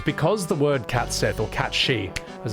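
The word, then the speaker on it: cat sìth: Catsith is Celtic folklore, so Irish nibble would be appropriate. The problem with cats Sith is because the word catsith or cat she as it's pronounced is the Scottish indigenous language for fairy cat.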